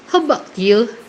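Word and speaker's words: How about you: eh eh hai ya Kalau tulisannya How about yang dibacanya tuh langsung gabung hope you hope you jadi enggak kedengaran seperti itu sahabat ready Eh kalau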